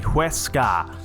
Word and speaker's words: Huesca: We're ready to take on Huesca, that's how you say it, or Huesca, sorry, Huesca is what I've learned of how you say that name.